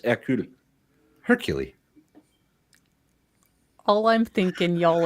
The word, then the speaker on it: Hercule: No, it's Hercule. Hercule. All I'm thinking, y'all, is Hercules, Hercules, Hercules, Hercules, Hercules. The H is silent in French.